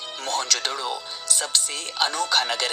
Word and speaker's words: मोहनजोदड़ो: आओ दोस्तों आज हम मोहन जोदड़ो की गलियों में घूमते हुए हमारी प्राचीन सभ्यता के गौरवपूर्ण अतीत को महसूस करने की कोशिश करते हैं मोहनजोदड़ो शब्द का सही उच्चारण है मोहन जोदड़ो और सिंधी भाषा में